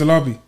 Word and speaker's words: Alabi: fair it depends like I used to just say I'm a Lobby that's how I'll say my surname yeah but obviously you